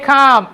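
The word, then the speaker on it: calm: Let's stay কাম and respectful. এটা উচ্চারণটা এল এর উচ্চারণ হবে না, ঠিক আছে?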